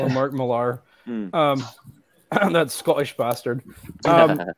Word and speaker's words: Millar: you're ending yeah Mark I know it's pronounced Miller but it's spelled Millar so I'm gonna call her Mark Millar um that's Scottish bastard